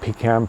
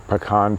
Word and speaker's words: pecan: Although, I mean, pies, like pecan pie or pecan pie, if that is your preferred pronunciation.